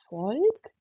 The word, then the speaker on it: Volk: V wie Volk und Vogel. यहाँ पर आप देख सकते हैं जर्मन का जो V है यानी कि V वो हम इंग्लिश के F की तरह प्रोनाउंस करते हैं.